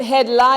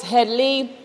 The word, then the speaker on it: Headley: e especially in trinidad it ain't head lie it's headly if you can't pronounce